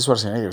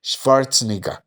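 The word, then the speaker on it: Schwarzenegger: figures de esos y no se dice swarzeneger se dice schwarz n Pero bueno Eh entonces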